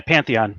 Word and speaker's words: Pantheon: So tonight we have Mark from Pantheon Reptiles, if I'm pronouncing it correctly. Yeah, Pantheon. Yeah. Pantheon, like the Greek, Exactly.